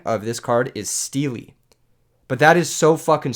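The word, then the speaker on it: Stele: Turns out the correct pronunciation of this card is Steely. But that is so fucking stupid. I am going to start a petition that we just start calling this card Stel.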